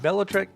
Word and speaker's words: Velotric: This is a Class 2 e-bike called the Nomad 1 by Velotric, and Velotric is the correct pronunciation.